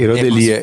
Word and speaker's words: Erodelia: Herodelia.